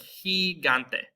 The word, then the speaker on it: gigante: We also have a soft G before E and I, kind of like the C. That's going to actually be our H sound in English. So we have words like gigante.